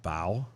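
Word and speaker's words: Bough: i'm what stephen r bo are you sure it's not bow boo boo booge boge boge b-o-u-g-h what how would you say that bow it's bo no yes no yes the gh is silent that still would be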